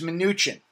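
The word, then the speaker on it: Mnuchin: I love okay well here it is it's pronounced minuchin I still say he's got tooo many consonant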